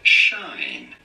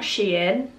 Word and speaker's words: SHEIN: you're all good so apparently it's not shein it's not sheen it's shine i i can't call